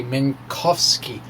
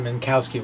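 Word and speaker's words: Minkowski: i'm trying to learn to say min kofsky instead mankowski which is a mispronunciation that is actually pretty common and i actually use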